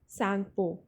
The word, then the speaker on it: Tsangpo: So the answer is Sangpo. Tsangpo, wherein the letter T is silent.